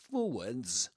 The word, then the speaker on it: forwards: Yes, in British English, forwards. In American English, forward. Forward, without the S at the end and pronouncing the R in the middle of the word.